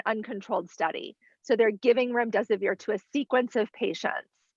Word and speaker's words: remdesivir: But if I'm going to say it right, it's remdesivir.